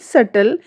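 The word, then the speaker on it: subtle: Rules to यदि किसी शब्द में टी से ठीक पहले बी आता है तो बी जो हमारा है वह साइलेंट रहता है।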